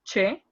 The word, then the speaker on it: che: these two letters that it's che, because have a different sound. Okay, the name is che, and we can hear like cha, che, chi, like cha, che, chi, cho, y chu.